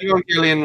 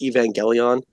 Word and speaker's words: Evangelion: on a stream pronounced Evangelion as Evangelion. And that happens a lot. And I had to and I couldn't stop myself. I was like, it's a hard G.